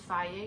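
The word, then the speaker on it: Fage: I use Faye Greek yogurt, which is spelled F-A-G-E.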